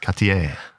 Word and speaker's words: Cartier: passed the bench test you got to say it right M ker katier that's it you um yeah they